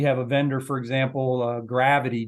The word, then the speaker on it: Gravyty: We have been, on the positive side, we have been using We have a vendor, for example, Gravity, Gravyty is the way they spell it.